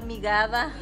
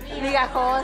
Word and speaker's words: migajón: del tamaño, es más, lo estaban pronunciando mal, migada. Migajón, sí.